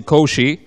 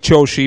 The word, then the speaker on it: Qoshi: name wrong it's like when a lot of people say koshi that means recycle bin in Albania so I rather say Josie because Josie means corner and I like that